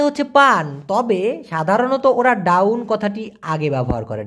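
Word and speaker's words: daun: পান তবে সাধারণত ওরা ডাউন কথাটি আগে ব্যবহার করে ডাউন ইংলিশের ডাউন না ভাই মালয়েশিয়ান ভাষায় down down D এ ইউ N down down মানে মূলত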